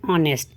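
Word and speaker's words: honest: जैसे कि एन ऑनेस्ट। अब यहां पे तो एच है पर अ की साउंड आ रही है।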